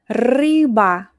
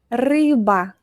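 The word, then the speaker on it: рыба: Rr. Roll your r. Rr. Ryba. Ryba. Fish.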